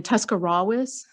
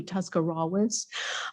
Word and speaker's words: Tuscarawas: State University down in Tuscarawas. So, and when I started that job, actually, they said the R is silent, if any of you have ever been to Tuscarawas County.